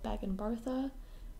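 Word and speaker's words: baingan bharta: I haven't cooked with an eggplant in a long time, but tonight I'm making a dish called bag and bartha. I believe that's how you say it.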